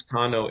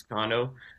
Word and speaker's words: Cano: Yeah, so my Twitter is underscore Cano 88. My name's not pronounced like Robinson Cano. It's Cano. There's no accent over though.